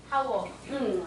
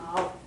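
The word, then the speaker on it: hour: 시간 할 때 그 시간. 하워. 아워. 이걸 읽을 때 아워라고 읽잖아.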